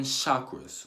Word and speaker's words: chakra: mind there are seven chakras okay suckers c-h a cake or a chakra chakra that's how you say it now what not